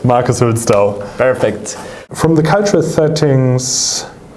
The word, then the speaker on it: Hülsdau: Is that the right pronunciation? Yes, it is correct. Marcus Hülsdau.